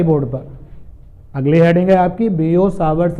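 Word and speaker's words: Biot–Savart: पर अगली हेडिंग आपकी बियो सावर्स ला इसको बेटा ये बियो सावर्स पढ़ते हैं जनरली तो हम लोग बायो सेवर्ड ला ऐसे पढ़ते हैं लेकिन यह बियो सावर्स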